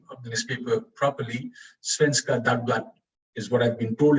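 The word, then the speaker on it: Svenska Dagbladet: Svenska Dagblad is what I've been told it's pronounced as.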